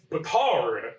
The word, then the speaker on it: Batard: It sucks to say this, but they really wanted us to emphasize the Tard part. They're like, it's Batard, and I'm like, I cannot say it like that.